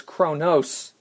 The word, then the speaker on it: Kronos: And it's interesting because they were dealing with a bad guy whose name was Kronos, not Krona, which is spelled Krona, but Kronos.